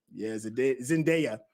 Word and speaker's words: Zendaya: Zendaya. There, I think that's how you pronounce it.